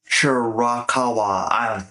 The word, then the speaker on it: Shirakawa: Storm, the interim ROH World TV Champion, Mina Shirwaka. I'm so bad. I'm so sorry. I destroyed that last name. It's spelled Shirakawa. Shirakawa.